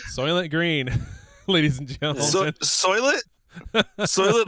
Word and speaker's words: Soylent: green ladies and gentlemen soylent like rhymes with toilet exactly we'll see how